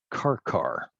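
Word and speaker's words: Qarqar: took place at a place called car car and on on this map you'll find car car spelled with a pair of cues q-a-r-q-a-r on the mediterranean coast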